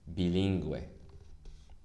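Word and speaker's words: bilingüe: two dots on it so we pronounced the u it's bilingue the second one is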